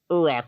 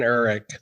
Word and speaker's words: Urich: And Ben Urich, that's his name. I said it wrong, didn't I?